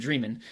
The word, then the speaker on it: Dreman: So I've been calling him David Dremen for 18 years, and in prepping for this, I've realized it's actually David Dremen.